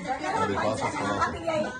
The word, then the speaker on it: Elifaz Ostolaza: Elifaz Ostolaza.